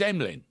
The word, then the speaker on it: Emlen: because I'd just like to highlight one guy there, which is because, not least which, his name is Emlyn. Oh, okay. His name's Emlyn Tunnell, but Emlyn is spelled Emlen.